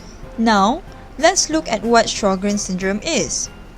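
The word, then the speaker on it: Sjögren's: let's look at what sjogren's syndrome is sjogren's syndrome is pronounced as show grains it is an autoimmune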